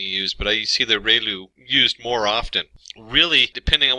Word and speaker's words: ReLU: We have the um ru it's pronounced like ray the ray of from the sun and lu like a name. So relu function and we have the tangent h function.